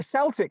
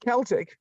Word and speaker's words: Celtic: football team yes yeah but they're celtic not celtic and it's spelled the same yeah they're the green